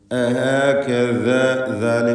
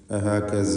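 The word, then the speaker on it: أَهَكَذَا: അഹകദാ വ്യക്തമായി മഖ്റജിൽ നിന്ന് തന്നെ ഉച്ചരിക്കണം. അത് സ പോലെ അഹകസ എന്നൊന്നും ആയി പോകരുത്.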